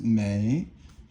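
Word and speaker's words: 每: But this one right here is mei, third tone, and it means every.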